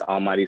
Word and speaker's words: ALMVGHTY: As you see, it's Almighty spelled with a V.